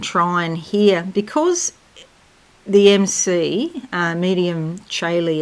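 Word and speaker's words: Medium Coeli: Now, I started to talk before about this double grand trine here, because the MC, medium Caeli it's pronounced, I believe, is not a planet.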